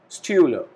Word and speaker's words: Stühle: Moreover, we have U with umlaut, means we need to put two dots again above the letter U, which has the pronunciation of U. So we call it die Stühle, plural form.